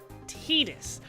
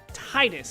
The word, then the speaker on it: Tidus: as said in later final fantasy games is pronounced Thetis I said the first time that I played this game Titus and I know a lot of people did